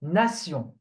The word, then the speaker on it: nation: This one, T-I-O-N. Okay? It's pronounced sion. Okay? Sion. For example, nation. Nation. Nation. Or action. Action. Okay? Nation. Action. Action. So T-I-O-N is always sion. At the end, when you find it at the end, it's always sion.